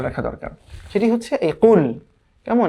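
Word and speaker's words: قُلْ: সেটি হচ্ছে এই কুল। কেমন, এই কুলকে পড়তে হবে কিন্তু কফ উচ্চারণ করে, কফ কাফ না।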